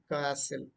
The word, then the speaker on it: castle: T is silent, you all know. Castle means ఒక కోట. Okay, it is castle. It's not castle, it's castle. Generally, these words we might tend to pronounce this as kazil, za, just like pleasure, please. But here it is only sa, kasil, kasil, kasil, right?